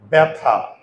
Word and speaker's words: ব্যথা: তাহলে দেখো আমি যদি এখন উচ্চারণ করি, এটাকে আমরা উচ্চারণ করি কি ব্যথা, ব্যা ব্যা।